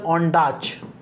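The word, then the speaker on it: Ondaatje: English patient जो है ये माइकल ऑनडाच, माइकल ऑनडाच भी बोलते हैं और माइकल ऑनडाची भी बोलते हैं, दोनों प्रोनाउंसिएशन सही है।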